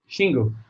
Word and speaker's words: Xingu: that you guys have opened and it's called Xingu or how do you pronounce that one yes chingu she is I and GU she knew she